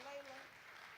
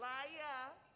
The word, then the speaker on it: Lila: They don't say it, Layla. They don't say it right. Lila. Laya.